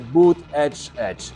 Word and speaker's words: Buttigieg: Maglietta del candidato Pete Buttigieg che spiega come si pronuncia il suo nome, cioè Buttigieg.